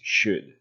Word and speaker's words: should: pronunciation of this word the o and the l are not pronounced so it is pronounced should ok what exactly is